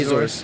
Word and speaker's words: Azores: Azores.